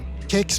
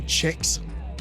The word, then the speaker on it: kex: They don't know how to pronounce the word kex, for example. Kex means biscuit in Swedish, and it's pronounced kex, but people here say Chex.